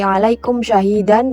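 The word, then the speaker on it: عليكم شهيدا: Cara membacanya yaitu diperjelas bunyi mim matinya secara terang di bibir tanpa dengung seperti alaikum syahidan dan contoh lainnya seperti anamta.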